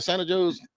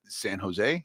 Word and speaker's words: San Jose: How do you say it? Santa Joe's. San Jose. San Jose. Jose. There ain't no H on there. That's a J.